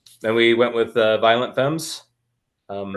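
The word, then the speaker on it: Femmes: I met her um before I pronounced fem right um and how did you pronounce it before like fies I'm pretty sure they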